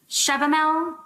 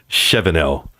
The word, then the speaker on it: Shevenell: Is it Mr. Shevendell? She wrote it down, right? I told you to remember Shevenell.